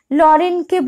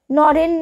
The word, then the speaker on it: নরেন: নয়ের জায়গায় ল উচ্চারণ করিতেছে, যেমন লরেনকে বললুম, নরেন না বলে বলছেন লরেনকে বললুম।